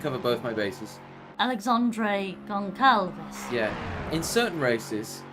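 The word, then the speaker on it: Gonçalves: Alexandre Goncalves. Yeah. In certain races, he has a little accent on the C. It makes it a S down.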